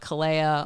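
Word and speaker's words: Kaleo: like it and I totally recommend checking out Kaa on whatever music platform you like stuff it's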